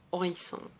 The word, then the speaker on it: Horizon: Horizon y que de Horizon Bueno ahora se pronuncia distinto porque es mercado francés que se llama oizon lo mismo Horizonte así